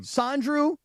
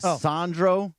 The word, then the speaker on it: Sandro: Sandrew. Mamu. First of all, you got the first name wrong. The first name is wrong. Sandro.